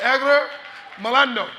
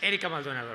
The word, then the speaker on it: Erika Maldonado: I want to introduce our next presenters from Univision, Enrique Rodriguez and Edgar Malando. You got it? I love how you roll the R on my name, but it's Erika Maldonado, right?